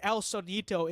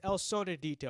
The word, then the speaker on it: El Sonidito: Okay, I said El Sonito. It's El Sonidito.